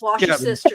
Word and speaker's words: Worcestershire: I say it like it's spelled. I say Worcestershire. Worcestershire. See, in the South, it's okay if you say Worcestershire sauce. That's what Mo says. Wash your sister sauce.